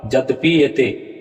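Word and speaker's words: यद्यप्येते: तो यहाँ आपका उच्चारण होगा यद्यपि येते, संधि विच्छेद इसका क्या होगा, यद्यपि जोड़ येते।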